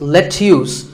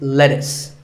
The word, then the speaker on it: lettuce: vegetable is called lettuce i know the spelling looks like it's let's use but it's not it's lettuce and since we're talking